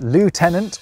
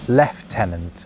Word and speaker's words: lieutenant: Quite literally, it's lieutenant or left-tenant.